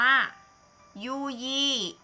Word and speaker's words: ยู่ยี่: มี อ่าน ว่า อะไร ยอ ยักษ์ ออก เสียง ยอ ยอ อู ยู ไม้ เอก you You're de mi เอก 20 คำ นี้ อ่าน ว่า ยู่ยี่ นะ คะ อ่ะ รูป